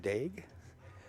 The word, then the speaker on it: Daigle: win aside match so Martin dig I was told to pronounce his name that way is not eliminated